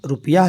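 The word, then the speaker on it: rupiah: Indonesia में Indonesian रुपिया रुपिया चलता है रुपया इस तरह से स्पेलिंग है आर यू पी आई ए एच रुपिया इंडोनेशिया में और उसके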